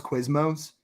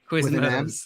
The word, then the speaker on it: Quiznos: My mom calls Quiznos Quizmos. Quiznos.